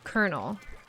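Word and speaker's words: colonel: still cannot spell but I now know how it's pronounced is Kernel even though it looks like Colonial or whatever Ora okarina orina or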